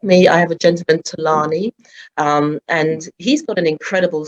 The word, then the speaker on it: Thulani: Yeah, but actually, that's my real name, Thulani. So Thulani. it's kind of like with the two, yeah, and that actually means to be quiet in Xhosa, which is my original language.